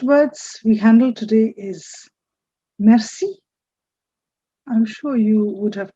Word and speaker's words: merci: Please note it is once again the French R. Merci. Don't say merci or something. It's merci, which means a simple thank you.